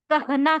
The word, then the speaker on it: कहाँ: एक है कहा, कहाँ। इसमें थोड़ा सा नेजल साउंड है बट ये दोनों का